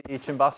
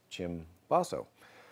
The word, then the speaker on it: cimbasso: The story is that chi, C is pronounced chi, so chi basso became cim basso.